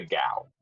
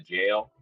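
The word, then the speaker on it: gaol: known as the the gal it's actually pronounced the jail but it's spelled like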